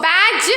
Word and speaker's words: badge: the letter g g so badge or badge badge badge D we should not pronounce next hedge knowledge Lodge